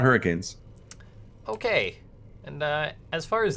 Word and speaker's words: Hurricane: Yeah, there's actually a town in Utah that is spelled Hurricane, and they pronounce it Hurricane.